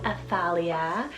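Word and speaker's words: Athalia: not a t h a l i a aphalia this one means the Lord is exalted then I added the name livelin it's spelled l-i-v l-y-n livelin now this one I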